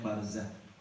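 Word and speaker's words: برزة: Di bawahnya An Abi Barzah biro'in sumazain, dari Abu Barzah dengan huruf ro lalu huruf zai. Jadi ada, jangan salah bacanya, huruf ro bau kemudian za, ya za zai, kemudian disebutnya dibacanya Barzah.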